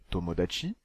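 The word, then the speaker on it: 友達: Il se prononce tomodachi et signifie simplement ami.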